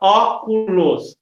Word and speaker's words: óculos: Como é o exemplo da palavra óculos, a sílaba tônica é a antepenúltima.